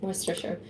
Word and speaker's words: Worcestershire: There it is, Worcestershire. So it would be pronounced Gloucester, Gloucestershire.